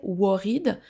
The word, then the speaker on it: worried: Là, vous entendez peut-être que je ne prononce pas le premier O comme un O. Typiquement français. Worried mais worried quasiment un e.